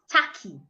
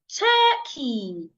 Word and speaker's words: turkey: I also have the word turkey. Not taki. I want to eat taki. No. Please say turkey.